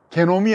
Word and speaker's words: 게놈: 게놈, 잘못 발음하면 욕하는 소리가 들립니다. 게놈이 아니고 게놈입니다. 영어로 genome입니다. genome는 발음하면 게놈입니다. 발음을 잘 하셔야 될것 같습니다.